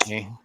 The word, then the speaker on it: tae: tae. T-A. Hi. Hey, we don't allow that kind of T-A-E. language. No, I'm just kidding. Clean it up. Tae is the word Scheisse, for merd.